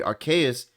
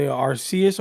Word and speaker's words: Arceus: I think what I'm most interested in is the Legends version, the Arceus or Arceus. I don't know how to pronounce Yeah, it, to yes. be honest with you. It's Arceus.